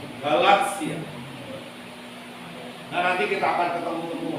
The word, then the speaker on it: Galatia: Seperti yang sekarang kadang-kadang saya lihat lektor itu masih baca misalnya Galatia. Padahal itu mestinya Galatia. T-nya itu malah nggak terasa. Galatia.